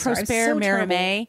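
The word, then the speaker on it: Prosper Mérimée: I believe Prosper Merimee. With French. My high school French, that's what I believe it is.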